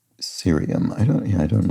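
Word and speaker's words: cerium: Curium has a hard C and serium does not. So, we pronounce the C like an S.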